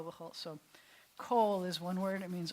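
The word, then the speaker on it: כל: vowel looking different but Cole means all or every so it rhymes with all that's I remember if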